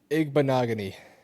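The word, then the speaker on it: Igbinoghene: Igbonogany.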